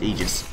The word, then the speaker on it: Aegis: So as it turns out despite the fact I may think that Aegis sounds cooler correct way is to pronounce Aegis.